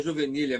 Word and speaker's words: juvenília: É, pronunciei correta a última palavra, é juvenilha mesmo, porque tá porque tava sem acento, mas eu achei que era juvenilha. É juvenilha.